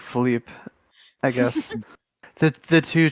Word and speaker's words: Philip: of his witty partner philip which like they pronounce like philippe i guess that the